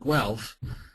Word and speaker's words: Guelph: Many outsiders have trouble pronouncing the name of my city, Guelph. So to pronounce the name, basically one starts with Guelph, the original German form. The Italians added a hard G sound to form Guelph, and that's the pronunciation the British adopted.